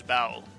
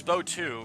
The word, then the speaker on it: bow: I think I I think strictly the pronunciation is bow, like to take a bow for a standing ovation or something. But I thought it was Bow 2 for the longest time.